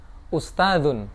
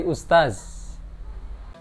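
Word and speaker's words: أستاذ: Kemudian kalau yang dibaca zain, misalnya ustadzun. Ustadzun itu zal dibaca zain menjadi ustaz.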